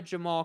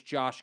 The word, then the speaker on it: Jamal: Don't refer to Jamal Khashoggi as Josh Khashoggi. It's not his name.